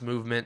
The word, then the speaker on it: MVMT: It's pronounced movement, spelled at MVMT.